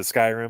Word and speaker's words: Skyrim: I'll probably pronounce it wrong. Skyrim or Skyrim? Is it Skyrim?